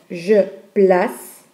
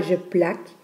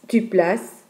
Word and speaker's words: place: Quand on prononce la lettre C comme S, donc ici on a je place, on prononce donc le C comme S, on ne dit pas je plaque, on dit je place, tu places et pas tu plaques,